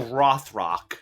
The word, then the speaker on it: Rothrock: I gotta learn how to say her name. Roth. Like a rock. Oh, Rothrock.